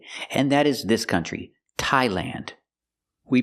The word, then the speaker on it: Thailand: Also remember the TH doesn't make a th or th sound, it makes a real T.